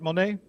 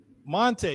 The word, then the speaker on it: Monet: How are you, wait a minute, am I pronouncing it right? Monet? Monte, yeah, I would say I didn't think I was.